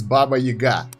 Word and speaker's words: Baba Yaga: We have the new hero, Dimensional Hero in AFK Arena, and this time it's Baba Yaga. Yes, this is how it's pronounced in Russian, and let's go and take a look at her.